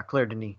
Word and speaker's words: Claire Denis: Is that how you pronounce it, Joel? Yeah, Claire Denis.